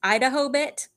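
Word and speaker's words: IDAHOBIT: the international day against homophobia something anyway it's pronounced Idaho bit is one of these awareness days because it's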